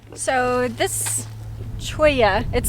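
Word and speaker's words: cholla: one area really cool Brittany so this Choya it spelled chola see hol la but it's pronounced troy yeah and this guy has actually died but it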